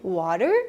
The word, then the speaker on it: water: Well, that's how an American would typically pronounce water, and we do it with other common words like better, important, internet. In English, this is known as the dropped T, and being able to